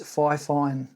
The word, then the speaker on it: FIFINE: There's no fine in the beginning. It's FIFINE, F-I-F-I-N-E, as you can see.